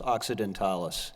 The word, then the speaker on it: occidentalis: plantings except those two, what is it called, occidentalis? Is that how you Yeah, pronounce it's Platanus occidentalis.